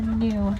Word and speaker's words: gnu: also known as the gnu, and that is spelled G-N-U. This is going to be an onomatopoeia for the sound they make when communicating with each other, a sort of new sound.